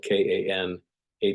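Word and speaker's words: Kanawha: the or the origination of the word cana it's spelled k a n a wh ha but it's pronounced Kana and uh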